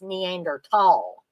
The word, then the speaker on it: Neanderthal: the last several years it's actually pronounced neander tall um when I first heard it pronounced that way um I thought are they pronouncing it wrong no actually it was